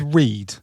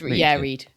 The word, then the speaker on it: Read: Harvey Saunders' full name is Harvey, and I'm gonna go with Reed, but it's spelt Red, R-E-A-D. Yeah, it's Reed.